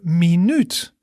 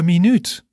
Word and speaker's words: minuut: Then when we talk about a minute, the minute, we would say de minuut. De minuut.